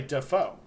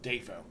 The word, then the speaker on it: Dafoe: Most people say Dafoe. And it's to the point that, like, he doesn't really correct it, but when asked, he will tell you that his name is pronounced Dafoe.